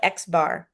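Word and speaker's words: x̄: this symbol right here we just call it xbar because it has a bar over the top anytime anything has a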